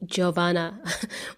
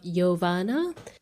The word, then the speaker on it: Jovana: she still calls me Jovana which is really the way I spell my name but I pronounce it with a soft J so it sounds like yovana thank you so much